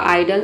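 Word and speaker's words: idle: ये साइलेंट है क्योंकि वर्ड के अंत में आया है, तो ये हो गया आपका आइडल।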